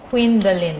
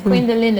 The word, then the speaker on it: Queendalyn: youtube you just type you are god by quindalin and quindalin is spelled q-u-e-e-n queen d-a-l-y-n-q-u-e-e-n-d-a-l and please whilst you